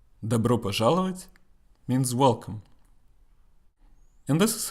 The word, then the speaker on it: пожаловать: Пожаловать.